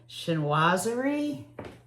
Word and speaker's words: Chinoiserie: And this one in particular, I'm going to make sure I pronounce it correctly. Chinoiserie.